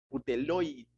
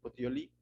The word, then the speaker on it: Puteoli: Llegamos a Regio y otro día después, soplando el viento al sur, llegamos al segundo día a Puteloi, Puteoli, no, es una palabra un poco difícil de pronunciar, Puteoli.